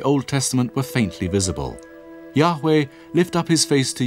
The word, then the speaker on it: Yahweh: is written YH VH it was probably not pronounced Jehovah but Yahweh only one object has